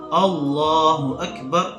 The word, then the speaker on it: اللہ اکبر: وہ ٹھیک کرنی ہے۔ اللہ اکبر یوں، حمزہ بھی واضح اور آخر میں را بھی واضح۔ دوسرا، اس میں جو